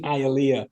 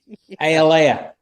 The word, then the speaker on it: Hialeah: director say, hey, Ben, can we try saying Hialeah? Or again? Even his buddy. Because Matt Damon said it right. The whole supporting cast, everybody got it perfect. But Alea. Yeah.